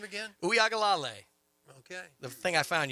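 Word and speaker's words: Uiagalelei: And pronounce the quarterback's name again? Uyagalale.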